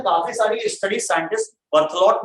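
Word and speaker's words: Berthollet: Actually इनके बारे में काफी सारी स्टडी साइंटिस्ट बर्थलोट ने की, बर्थलो ERTHLOT, टी साइलेंट।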